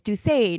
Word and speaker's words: Doucet: And he said, no, in Quebec it's Alexandre, you know, and it's Doucet, not Doucet, you know, whatever.